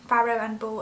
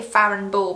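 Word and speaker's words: Farrow & Ball: whether from frowning ball pharaoh and ball i always say it wrong i want to say farron ball but it's not as far and ball um but yeah these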